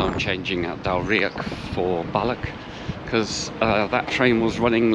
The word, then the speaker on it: Balloch: 3 minutes, and then what I've been calling Balloch, the voiceover lady there said Balla, so I'll listen out on the train for the announcements and see if I'm pronouncing it correctly.